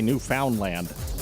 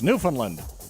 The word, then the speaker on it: Newfoundland: I'm not supposed to say Newfoundland. They'd kick me out of here. You'd lose me as your host with the most. So it's Newfoundland.